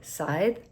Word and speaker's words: scythe: Um, I've been practicing the correct way to say sighthe because I said it wrong in my short where I talked about it.